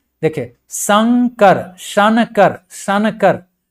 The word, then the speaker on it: शंकर: इस तरह से शंकर तो जो अनुस्वार का जो है एन का जो साउंड है कहां पर आ रहा है और किसके पहले आ रहा है तो देखिए क से जस्ट पहले न का साउंड आ रहा है लेकिन यह जा कहां